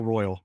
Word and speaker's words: Royale: Is it Royal or Royale? It's Royal. And for years, I kept on calling it Royale. And then, going up there, I'm like, oh, I've been saying it wrong for 10 plus years.